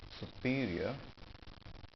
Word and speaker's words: superior: Superior, stress is here. Superior. I agree that he has a superior intellect.